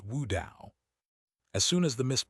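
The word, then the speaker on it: 悟道: In Chinese, mist blade is pronounced Wu Dao, almost exactly as the pronunciation of Tao enlightenment, which is Wu Dao.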